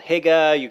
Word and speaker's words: hygge: It's spelled H-Y with a little... No, just H-Y-G-G-E. Okay. So that's how it's spelled. And so you hear it called hygge, hear it called lots of different things. Yeah, hygge. Yeah, hygge is probably the closest.